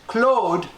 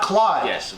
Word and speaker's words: Claude: the deal bang and it's pronounced Claude not Claudius remember we are very